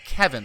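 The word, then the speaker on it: Kevan: might be Revan, because people have corrected me about how to say Kevin. Like Tywin Lannister's brother, Kevin Lannister, is spelt the same way, only with a K at the front, and it's pronounced Kevin.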